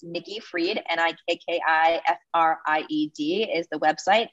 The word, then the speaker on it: Fried: So it's Nikki Fried, NIKKIFRIED is the website. So spelled like fried, but it's pronounced Fried.